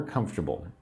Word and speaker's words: comfortable: Say with me, three syllables. Comfortable. Comfortable. I don't say comfortable. I say comfortable.